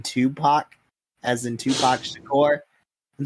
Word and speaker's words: Tupac: to pronounce it by his name is two pack or something like that I'm like you mean Tupac as in Tupac's decor